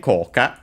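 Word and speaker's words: 効果: on the so on coa on its own I think is an accented no actually it's accented on the first syllable sorry yeah it means literally effect in various meanings.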